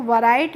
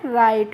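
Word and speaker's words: write: तो इसको वैराइट नहीं पढ़ते हैं क्योंकि जब भी किसी भी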